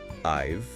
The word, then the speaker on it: I've: Well, as the material we're using highlights, it's almost always pronounced in a very unstressed way. It doesn't sound like I have e with a clear h sound and the full vowel in have. No, it doesn't. It reduces it dramatically. Yeah. Often it sounds more like just the initial I followed by a really soft V sound almost blending directly into